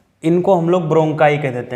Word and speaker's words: bronchi: श्वास नली ब्रोंकाई, क्या पढ़ते हैं ब्रोंकाई। ब्रोंकाई की स्पेलिंग होती है BRONCHI, ठीक है, ब्रोंकाई।